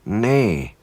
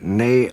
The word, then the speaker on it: ne: replace she with n although it looks like NE when it's spelled nou e it's actually nay and we say nay Au asan is he